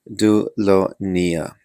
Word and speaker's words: Dolonia: Oh, pronounced Dolonia.